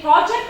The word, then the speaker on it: project: noun and verb and it's two syllables with the noun my strap on the first sin but with the verb I stress on the second syllable I only four words